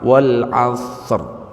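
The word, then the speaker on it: والعصر: Wal asr. Ada gitunya. Ro itu jangan dihilangkan.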